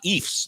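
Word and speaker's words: Ephs: title with the if the ifs they call them now it rhymes with Chiefs stands for Ephraim Williams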